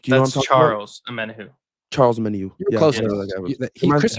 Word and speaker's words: Omenihu: Amenihu. Do you know what I'm talking Charles Omenihu.